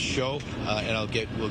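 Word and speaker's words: Shiou: Yeah, it's pronounced show.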